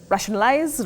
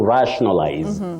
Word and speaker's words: rationalize: pronounced rationalize rationalize to rationalize or rationalize not re we don't say re just like we have the word national not National we also